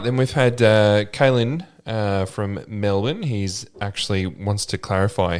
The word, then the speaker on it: Melbourne: We pronounce our own capital cities incorrectly. Like Melbourne. It's Melbourne. Melbourne. Look at how it's spelled. It's Melbourne.